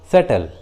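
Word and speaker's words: subtle: उसी तरह doubtful, सटल, देखिए इस इंग्लिश वर्ड में टी है और टी के जस्ट पहले बी है, इसलिए बी साइलेंट है, सटल।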